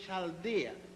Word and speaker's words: Chaldea: Abraham was born in the city of Ur in Chaldea. It is spelled U-R, Ur, and Chaldea is spelled C-H-A-L-D-E-A.